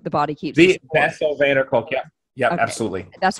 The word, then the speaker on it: Bessel van der Kolk: Bessel van der Kolk. I don't actually forget. I just don't know how to pronounce it. Bessel van der Kolk wrote The Body Keeps the Score. Bessel van der Kolk, yeah.